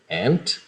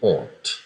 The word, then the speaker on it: aunt: Então, duas pronúncias aqui, aunt, nos Estados Unidos, e aunt, na Inglaterra.